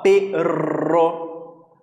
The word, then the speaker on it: perro: E a pronúncia, é bem interessante saber, que a pronúncia desse doble R, esses dois R's, sempre vai ser mais forte, né, como se fosse tremido mesmo, esse prr, tá, ó, perro, sussurrar, né.